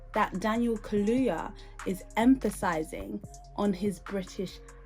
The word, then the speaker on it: Kaluuya: He said Kaluuya, and it's Kaluuya. Yeah?